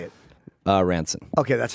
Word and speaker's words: Ransone: By the way, if I've been saying your name wrong, I've been saying Ransone. It's Ranson. I don't know.